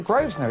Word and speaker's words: Grosvenor: things I see we've got the name the Groves know it sounds posh you don't pronounce the air first no hello is that